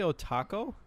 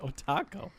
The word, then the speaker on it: otaku: jellyfish jellyfish Oh taco and you say Oh taco otaku okay it's like Oh taco I want some tacos